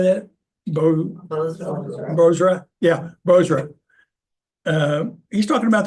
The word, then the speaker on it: Bozrah: Bozrah.